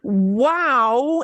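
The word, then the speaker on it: guau: Y wow en español se escribe wow. G-U-A-U. Wow. Wow.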